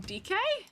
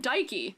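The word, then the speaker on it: Dikke: you guys told me her name is pronounced DK DK yeah DK but I pronounced her name dyky as if she is um Greek question mark um I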